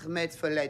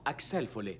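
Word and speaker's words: Axel Foley: Et Danny, veux-tu dire à Mademoiselle Summers que Monsieur Ahmed Follet désire la voir? Non, Axel Follet, Axel.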